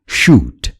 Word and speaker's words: shoot: पहिलो शब्दमा पातलो स को उच्चारण हुन्छ र दोस्रो शब्दमा मोटो श को।